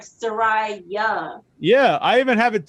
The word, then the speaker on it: Soraja: like a Y, so it's like Soraja.